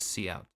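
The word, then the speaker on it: cout: This code uses a method known as couch pronounced see out.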